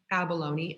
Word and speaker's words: abalone: it is a type of shellfish and then abalone abalone it looks like abalone in spelling right it is actually pronounced abalone again another type of shellfish all used for